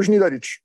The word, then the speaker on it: Znidaric: The N is pronounced, right? Znidaric, yeah. N is pronounced. And this Z with a hat is Z. C with a hat is Ch.